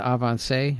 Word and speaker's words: Avancé: My favorite, the Avancé.